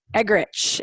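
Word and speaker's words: Eggerichs: about that book the Emerson egg rich is that how I say it right yeah yeah yeah so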